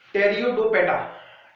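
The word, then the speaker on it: Pteridophyta: ठीक है, पेट्रोइड्स, टेरियोडोपेटा, spelling P से स्टार्ट होगी लेकिन पी साइलेंट है ना।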